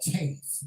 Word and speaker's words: Taiste: It was called Taste. It's spelled Taiste. Again, that's Taiste. It's called Taste.